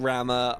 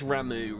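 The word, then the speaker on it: Ramuh: I'm going to see keep saying Rama. I guess Ramu really is the the right one, so to speak, the right pronunciation.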